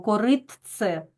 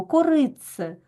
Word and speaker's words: коритце: це слово коритце Так ми ж не кажемо коритце ні Нам навіть і важко це вимовити ось ми вимовляємо корице Ми чуємо ось це